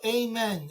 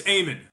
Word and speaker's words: Eamon: Hey, Eamon, is it Eamon or Amen? How do you pronounce it? It's somewhere in between. It's Eamon. So you don't have to say a prayer when you say hello to me, but it's Eamon. Yeah.